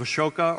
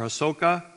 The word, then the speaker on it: Ashoka: In fact, a later emperor by the name of Ashoka or Asoka, depending on which pronunciation you accept, built a pillar there and marked it with one of his pillars.